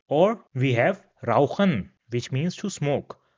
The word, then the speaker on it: rauchen: Now if this comes after the characters A, O, U, or A, U, then it will be pronounced as H in English.